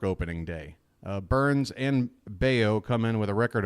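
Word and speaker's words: Bello: Burns is going to be on the mound Brian beo rhymes with mayo will be on the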